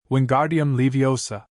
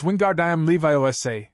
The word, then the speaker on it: Wingardium Leviosa: Wingardium Leviosa, he shouted, waving his arms like a windmill. You're saying it wrong, Harry heard Hermione tell him. It's Wingardium Leviosa, make the gar nice and long.